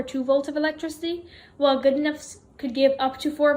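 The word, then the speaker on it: Goodenough: idea in 1980 john good enough i'm sorry if i pronounce his name wrong the way that i found to pronounce his name was john good enough in 1980 he tried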